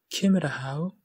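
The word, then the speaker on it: Ciamar a tha thu: Cimmer a how est le THU, le pronom sujet ici. La prononciation du TH, c'est muet. C'est une exception.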